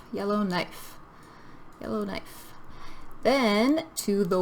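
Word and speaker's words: Yellowknife: Yellow, like the color, knife, like in the kitchen, cutting with a knife. Yellow knife.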